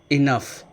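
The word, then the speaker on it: enough: अगला एग्जाम्पल है इनफ, जी H last में है, इसमें आपको फा साउंड सुनाई देगी।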